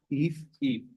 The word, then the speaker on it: Eve: So it's Eve? Eve, yep, Eve. like, just think of leaf without the L, and that's the pronunciation.